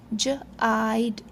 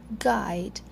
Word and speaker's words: guide: So if we don't put silent letter u here, it will make its soft sound that is j. It will become jide, chide. So to avoid its j sound, we put silent letter here u. Now it will become guide. Here the silent letter U actually protects the sound of the letter G.